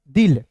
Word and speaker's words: दिल: द, आई है तो ई के रूप में उच्चारण करेंगे, एल है तो लॉ लिखेंगे। क्या हो जाएगा? दिल।